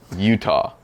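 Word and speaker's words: Eutaw: Utah.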